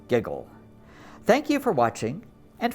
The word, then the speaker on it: WGJL: you have been watching the station wgjl pronounced giggle thank you for watching